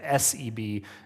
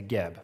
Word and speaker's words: Geb: ago, all the resources, they believed he was called Seb, S-E-B, and so you'll see that in old encyclopedias and references like that. However, today, Egyptologists believe that pronunciation was wrong, and so they've changed it from Seb to Geb, but you may see